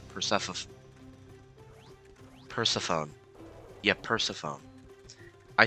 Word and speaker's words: Persephone: No, I'm pretty sure it's pronounced Persephone.